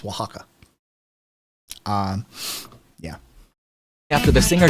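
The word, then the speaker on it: Oaxaca: only um yes that that spelling uh o a x a CA um is is pronounced Waka um yeah after the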